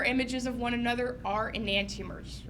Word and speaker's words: enantiomers: on the board as well so this guy enantiomers is spelled like in ant t/o MERS and antia MERS okay okay so yeah non-superimposable mirror images of one another are enantiomers right so this guy will call this molecule